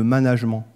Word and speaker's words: management: france un problème de management alors je le prononce comme ça parce que le mot vient de ménage et de la même